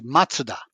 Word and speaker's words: Mazda: like Mazda right uh-huh Mazda is actually matsuda really and that they